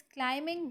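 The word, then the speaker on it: climb: इज क्लाइमिंग the mountain अब यहां पर क्लाइमिंग हम वैसे पढ़ते हैं लेकिन स्पेलिंग में क्लाइम बी जब हम क्लाइम पढ़ेंगे इसको हम क्लाइम क्लाइम करके पढ़ेंगे लेकिन जब हम इसको क्लाइमिंग करेंगे तो यह फौरन से बी जो है वह स्किप हो जाता है खुद बखुदा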